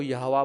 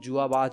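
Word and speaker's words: Yhwach: और हां, सबसे पहले तो , य्वाच के कई उच्चारण हैं। कुछ लोग उन्हें यहोवा कहते हैं। कुछ लोग उन्हें यहोवाच कहते हैं। कुछ लोग उन्हें जुहा बाख कहते हैं।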